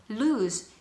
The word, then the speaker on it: lose: lose. 여러분 여기서 발음이 lose가 아니에요. lose인데요. 발음은 lose라고 합니다.